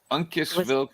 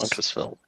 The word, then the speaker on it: Uncasville: So we were up in pronounce the town for me. Uncasville, Connecticut. Yes. Uncas? Uncasville. Uncasville, yeah.